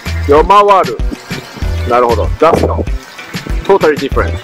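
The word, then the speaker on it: ヨマワル: Yomawari. Yomawaru.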